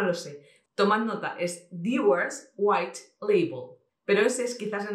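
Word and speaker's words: Dewar's White Label: Tomad nota, es Dewars White Label.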